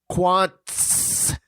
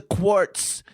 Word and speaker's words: Quantz: The name is Quantz. Quantz. Stop it with the quartz.